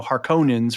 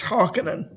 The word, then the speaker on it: Harkonnen: and the way we said Harkon You know, Harkonnens versus Harkonens. Right. So, we didn't have a pronunciation guide back in the you know, early aughts and late '80s and stuff, '90s.